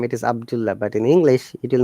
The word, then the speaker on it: Abdullah: Similarly, if your name is, how do you pronounce it now? mm, Abdullah. Okay, in Arabic name it is Abdullah, but in English it will not be said as Abdullah.